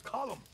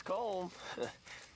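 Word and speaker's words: Colm: not cold calm it's column in Ireland we say column well uh he likes comb he's American boy's Irish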